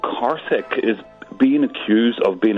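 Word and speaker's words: Karthik: There is a man called Carich. His full name actually Caric Yeah.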